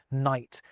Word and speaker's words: night: It's when the K and G stop being pronounced at the start of words like night and gnome.